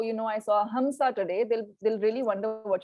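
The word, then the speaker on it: हंस: They won't know what a hamsa is until you say hansa. So in Hindi, it is, you know, pronounced in that manner, but in Sanskrit, it is amsha, right?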